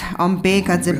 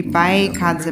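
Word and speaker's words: भैषज्ये: So to give one example, in the medicine Buddha mantra, so some people like kind of pronounce it loosely as Bekadze Bekadze. So when actually it should be Baikadze Baikadze.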